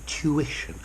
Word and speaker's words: tuition: tuition and intuition notice as I'm British this tu goes to Jewish intuition an American would probably say tuition two to three tuition